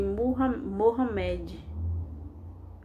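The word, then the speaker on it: Muhammad: 7 por meio de muhammed e eu acho que assim se pronuncia me perdoe se tiver errado que é conhecida em português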